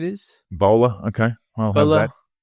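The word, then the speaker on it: Boele: I mean, counting is continuing, but Nicolette, the Teal candidate, Nicolette Boel, I think that's pronunciation is B-O-E-L-E. Bowler, I think it is. Bowler, okay.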